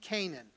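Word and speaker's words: Cainan: Then we see Canaan. Now, Canaan is the same. It is a different spelling, but it's pronounced the same way as Canaan that we see that was promised to the people of Israel.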